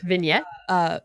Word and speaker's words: vignette: I'm currently reading, I apologize if I mispronounce this word because it looks like vinaigrettes, but it's not. vignette.